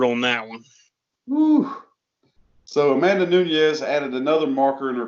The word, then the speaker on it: Amanda Nunes: Amanda, I can never pronounce her name right, because some people, it's pronounced 2 different ways, and I'm sure she takes offense to one of them. But Amanda Nunes is how it's properly pronounced, I believe.